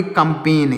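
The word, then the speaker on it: campaign: भी जी साइलेंट है सी ओ एम पी ए आई जी है तो इसको पढ़ेंगे कंपेन क्या पढ़ेंगे कंपेन इसमें भी जी साइलेंट है यहां पर भी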